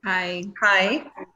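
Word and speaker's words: はい: Hi. Just like hi, but different.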